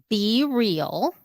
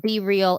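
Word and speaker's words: BeReal: it on for people who are watching what be real is all about be real be real it's an app okay you spell it b-e-r-e-a-l because that's it yeah it's be real okay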